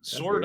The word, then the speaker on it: Sword: SW oh s the W is silent I guess SW I have 45 years I've had to spell it for every it's always mispronounced always misspelled sword I would think that's